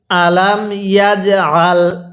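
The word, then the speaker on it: ألم يجعل: হ্যাঁ পড়ুন কাইদাহুম আরেকবার আমার সাথে পড়ুন বলুন আলাম ইয়াজাল এরপরে কাইদাহুম তাহলে এবার মিলিয়ে পড়ুন আলাম ইয়াজাল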